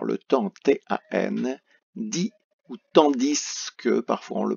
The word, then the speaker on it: tandis que: Donc, on va avoir le temps, T-A-N, dit ou tandis que, parfois on le prononce.